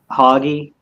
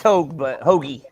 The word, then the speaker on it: Hoagie: What's your question, Hoggy? Is that your name? It's Hoagie. Hoagie.